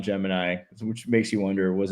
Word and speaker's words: Gemini: Yeah, it's like pretty Geminy like which apparently Geminy was the way they pronounced it, not Gemini, which makes you wonder